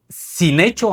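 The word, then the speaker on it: συνέχει: Esta palabra griega sin hecho, así así así se pronuncia, sin hecho puede traducirse como controlar, dominar, impulsar con fuerza, apremiar, mantener sujeto, dirigir completamente.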